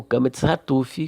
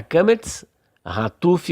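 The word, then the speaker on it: קמץ חטוף: Kametz antes de makef, traço horizontal que une duas palavras, será kametz hatuf ou katan. Logo, ele terá som de ó.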